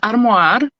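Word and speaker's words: armoire: one of them was because I speak French as well I'm gonna say it in French it's armoir so like a wardrobe armoir to me it sounds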